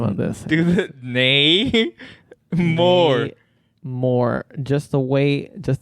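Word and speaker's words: Namor: I'm gonna write it down how about this nay more more just the way just the way you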